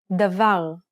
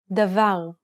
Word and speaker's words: Davar: Where is the stress in this example? Davar. In this example, the final syllable is stressed. Stress will predominantly fall on the last 2 syllables of a word, with the final syllable being much more likely.